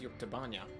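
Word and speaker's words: Yuktobania: a humanitarian Mission from yuktovania airdrops and supplies for them again today it was meant to pronounce York tabanya anyway thanks to the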